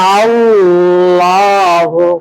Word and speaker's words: আল্লাহ: হালকা টান হয়ে আওয়াজটা এখানে ফ্লো হবে বলেন আল্লাহু রাফাহুল্লাহু রফাহুল্লাহু জিহ্বাটা আমাদের থাকবে উপরের দুই দাঁতের